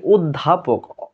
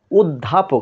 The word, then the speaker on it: অধ্যাপক: তার মানে অধ্যাপক লিখতে আমরা বলি অধ্যাপক, অধ্যাপক, তার মানে আমাদের ঠোঁটটা গোলাকার হয়ে যাচ্ছে।